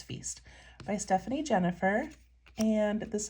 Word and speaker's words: Feist: right so this one I pronounce it Feast it could be Feist I think it's Feast by Stephanie Jennifer and